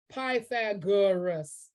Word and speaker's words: Pythagoras: side well done look at that camouflage like pythagoras i love it that's how you pronounce it this longest side of this triangle